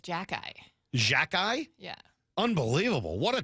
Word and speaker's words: Xhekaj: Jack-Eye? Yeah, it says Jaka-I.